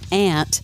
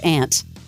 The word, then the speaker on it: aunt: she's a little confused why her daughter pronounces ant differently than her yeah the word Aunt when did you start saying Aunt you always say something about this cuz I I don't ant I always say Aunt Aunt Mimi Aunt Mimi